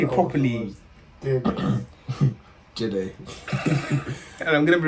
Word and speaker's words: Jide: Jide.